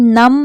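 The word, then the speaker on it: numb: ई settle उसके बाद नम नम में भी बी साइलेंट है क्रम में भी बी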